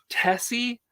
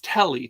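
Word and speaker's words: Telle: 2007, and it's by, I don't know how you pronounce her name, Tessie. No, it's Telly, T-E-L-L-E, Telly, don't know.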